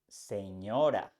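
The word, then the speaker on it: señora: very common in English you can find these sounds in words like Canyon and in Spanish in words like Senora which means lady Canyon Senora Senora Senora is the same sound it's important that you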